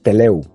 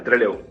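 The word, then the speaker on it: Trelew: si lo pronuncio bien, Teleu. Totalmente Treleu. Ah, Tre. Treleu. Okay.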